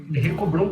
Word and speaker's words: Henrico Brum: Henrico Brum com H no início, o H é mudo, mas é importante sempre citar ele, nunca esquecer.